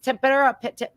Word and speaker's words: tempera: It's tempera.